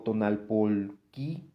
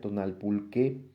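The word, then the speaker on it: tonalpouhque: O tonalpolquí, aquí dice así, pero yo sé que se pronuncia tonalpulqué, o los lectores del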